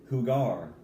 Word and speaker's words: jugar: perfect for that now look how it's pronounced whoo gah jugar the Ju and jugar makes a whoo sound so it's whoo gar okay jugar means to